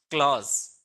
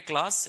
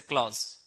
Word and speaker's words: clause: Where clause, this we need to pronounce clause. It's not like a class, it's a clause.